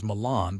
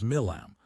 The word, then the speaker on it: Milam: "They got his name wrong on the television, said it was Milan, but I'm suspecting it was Milam.